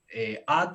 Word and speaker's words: ad: es importante la pronunciación, ad con D, que es un sonido suave, ad es nombre, pero ad es caballo.